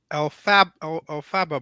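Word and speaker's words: Elphaba: Well, it's Alfaba, but I just say Alfalfa because I couldn't say Alfaba. I couldn't pronounce it.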